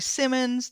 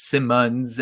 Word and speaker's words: Simonds: How can people get in touch with you if they want to know more about Gary Simonds, Death's Pale Flag, your new book coming out?